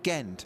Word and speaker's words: Gent: to confirm it's j James gent as in gentleman it's James gent so it's James gent exactly yeah y as I say I know a gent family who are very particular about the hard G and in James's case it is James gent he's a gent he's a gentleman so it's James jent